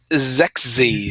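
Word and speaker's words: Xexyz: so they said all right you want an unpronounceable name x e x y z z is Zex Zex it's sexy this is getting sexies he's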